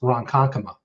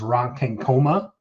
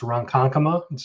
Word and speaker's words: Ronkonkoma: You try to kind of say it phonetically, and when you look at it, you think it's Ronkonkoma, but it's Ronkonkoma.